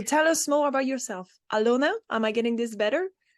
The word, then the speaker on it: Alëna: And I will start by actually saying my name in Belarusian, which is Alёna.